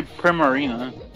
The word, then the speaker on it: Primarina: you say it I've mostly heard people say primarina oh I mean it's just like primarini segment behind it uh well that stuck bro